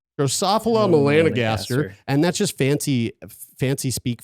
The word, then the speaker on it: Drosophila melanogaster: Let's just get the correct pronunciation there. Drosophila melanogaster. All right, let's say it one more time, slower. Drosophila melanogaster. Drosophila melanogaster, and that's just fancy speak for fruit flies.